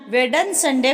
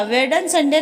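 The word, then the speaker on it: Wednesday: तुम्हारा इम्तिहान वेडन संडे को है? रितु ने बेटी मन्नू से पूछा। वेडन संडे नहीं भाभी, वेडनेसडे। पहला वाला डी साइलेंट है, इंग्लिश ठीक से बोलिए।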